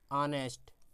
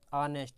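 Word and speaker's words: honest: इसका उच्चारण होता है ऑनेस्ट, ऑनेस्ट, तो इसका आ हिंदी के स्वर में आता है, तो एन आएगा।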